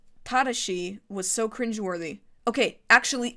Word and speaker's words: Tadashi: If you pronounce it in Japanese properly, if you use the Japanese syllabic structure, Tadashi.